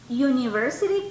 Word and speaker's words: university: Because the beginning of university sounds like a consonant sound.